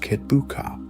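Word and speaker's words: Kitbuqa: under the command of his trusted general Kitbuka, pronounced Kitbuka, to maintain the occupation and hold the newly conquered territory.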